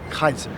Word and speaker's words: Caesar: Latin in the Greek in the Latin it's pronounced Kaiser right how do you